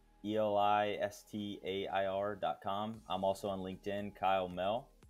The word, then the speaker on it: Mehl: I'm also on LinkedIn, Kyle Mehl, a little bit funny last name. The H is silent.